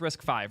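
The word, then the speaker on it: RISC-V: record the whole intro I think risk V is pronounced risk five right just making sure when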